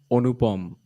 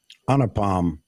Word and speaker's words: Anupam: Thanks, Onupom. That's how you should pronounce his name. It's actually O and NU and POM. It's not A. Anupam.